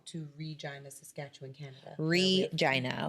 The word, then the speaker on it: Regina: rejoin the Saskatchewan Canada Regina okay vagina yes however the rock radio